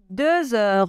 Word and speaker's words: deux heures: je continue il est deux heures on doit faire la liaison et le X se prononce deux heures une heure il est